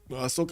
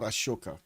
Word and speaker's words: Ashoka: Also, how do you pronounce is it Ahsoka or Ashoka? Cuz I'm pretty sure you can I know I pronounce it Ashoka but I've never looked it up. Ashoka. Okay. Okay. So, you do get that sh in.